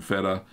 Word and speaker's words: Fettaq: That's why I kind of changed the name of my Persian feta, spelt FETTAQ. So it's pronounced feta, but the Q silent, of course.